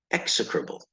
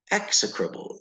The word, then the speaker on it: execrable: the H is silent execrable execrable that's a hard word to pronounce the emphasis is not on the ubble it's on the ex execrable okay what is